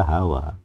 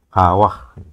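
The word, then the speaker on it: חוה: Ini bukan H, ini nggak boleh dibaca Hawa. Bacanya harus ha, Hawah.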